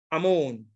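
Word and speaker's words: אָמוֹן: Brought up is this word, Amon. This is the pronunciation.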